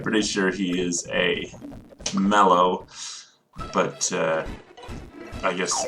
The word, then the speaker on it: Mallow: that utmost defense some i hear too many people say molo i'm pretty sure it's mellow because he looks like a marshmallow and if you actually